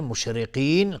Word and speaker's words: مشرقين: مشرقین، قاف از حروف استعلاست غلیظ تلفظ میشه.